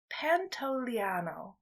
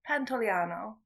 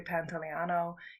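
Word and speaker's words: Pantoliano: we referred to him it's Joe Pantano or Pantano Joey pants is a little bit easier but it is Joey Pantano you know him from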